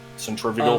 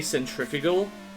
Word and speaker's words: centrifugal: I think Americans say centrifugal and we say centrifugal.